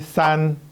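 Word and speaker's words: 三: 있어요 바로 삶과 7인데요 3은 발음이 싼 흩어지다가 싼 그래서 3을 떠올리면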